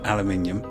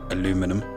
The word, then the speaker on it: aluminium: So I say aluminium. What about the IUM? Alumium. If you're going to pronounce it like that, you need to get the IUM in there.